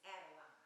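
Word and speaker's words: Adaline: the way the families always said it was Adeline.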